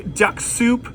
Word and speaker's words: Duxoup: Something pretty cool today, the Duxoup 2015 Sangiovese.